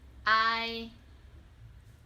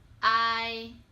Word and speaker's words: ai: first one we have ai ai It sounds similar to the word bye in English for example